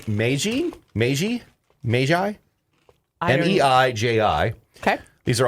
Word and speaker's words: Meiji: you guys are gonna love now i'm gonna pronounce it wrong and butcher it but it's called meiji meiji meiji m-e-i-j-i okay these are also from japan